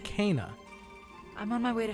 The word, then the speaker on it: Kena: helped Benny and S she pronounces herself Kaa I'm on my way